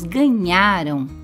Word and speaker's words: ganharam: Quando lemos ganharam, notamos que apesar do som final ser parecido com o ão do avião, a sílaba mais forte é nhá e não rão. Perceba que há uma diferença de pronúncia e de significado entre as palavras. Ganharam, ganharão. Na palavra ganharam, nós percebemos que o nhá é a sílaba mais forte. Em ganharão, a mais forte é rão, porque ganharam